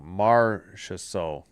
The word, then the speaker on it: Marchessault: Marchessault.